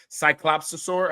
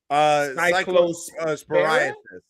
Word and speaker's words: Cyclosporiasis: How do you pronounce this? Is it cyclopsosaur? How do you say it? I don't know. How is it? Cyclosporiasis.